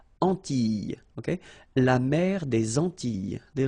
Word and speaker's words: Antilles: So here it's quite interesting because, well, you've got this E and then double L, S. Okay? So final S and E, really you don't pronounce them. So you get this E sound. Antilles.